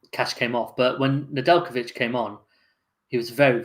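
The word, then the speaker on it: Nedeljković: How do you pronounce it, Ray? Nedeljkovic.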